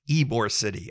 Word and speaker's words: Ybor City: a place and anyways it is pronounced Ybor City I apologize to the